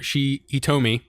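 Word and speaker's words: Hitomi: But the girl, our main girl here, Hitome. What? Yeah, it's Hitome. Oh, sorry. It's Hitome.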